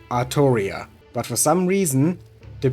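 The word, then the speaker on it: Artoria: And that's actually how you pronounce her name in Japanese. Every time they say her name in any Japanese media, you can clearly hear the voice actor say Arttoria.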